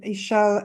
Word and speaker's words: Ichel: Ichel, is that how you say it? Ishel, yeah, Ishel.